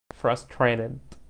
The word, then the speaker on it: frustrated: frustrated T وال R لما يجوا ورا بعض زي ما قلنا. R لما تيجي بعد T في تشاه sound. So frustrated تمام.